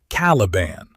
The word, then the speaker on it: Caliban: Pin the pronunciation now because the audience will. It is Lion El'Jonson, and it is Caliban.